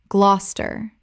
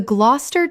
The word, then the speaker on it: Gloucester: Gloucester. Common mispronunciation. Gloucester. Correct pronunciation. Gloucester. 2 syllables only. The middle syllables disappear completely. Example. The Gloucester cheese rolling competition takes